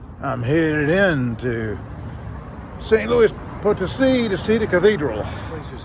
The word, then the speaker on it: Potosí: And for those who think it's San Luis Potosí, or Potosi, they're wrong. They pronounce it Potosí.